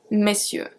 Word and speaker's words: messieurs: This one, the pronunciation is very specific. Monsieur, messieurs. Monsieur, messieurs. So we go from me to me.